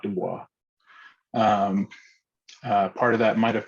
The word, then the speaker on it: Du Bois: But Du Bois insisted that his name was pronounced Du Bois, not Du Bois.